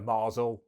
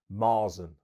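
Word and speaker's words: Märzen: the Camden Marsen now I've called it a marzel I think in some reviews yeah mess that up maren I think that's how it's pronounced so basically it is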